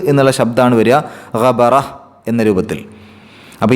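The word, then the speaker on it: غَبَرَة: ഗബറത്തുൻ അതിൽ അവസാനത്തെ ആ താഇനെ നമ്മൾ പറഞ്ഞിരുന്നു തൊട്ട് മുമ്പത്തെ ആയത്തുകളിലൊക്കെ. ഇങ്ങനെയുള്ള താ കാണുമ്പോൾ അത് സുക്കൂനുള്ള ഹ ആക്കിയിട്ടാണ് ഉച്ചരിക്കേണ്ടത്. ഗബറഹ്, ഗബറഹ് ഒരു ചെറിയ ഹ് എന്നുള്ള ശബ്ദമാണ് വരിക, ഗബറഹ് എന്ന രൂപത്തിൽ.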